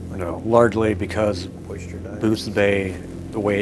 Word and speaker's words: Boothbay: Boothsbay. Boothbay. Booth Bay, no S, Oh, my mistake. no S. Boothbay.